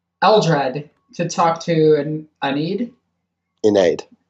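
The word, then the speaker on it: Ynnead: Inaid. I go with Inaid, but I think Bob. Iniad is the canon pronunciation.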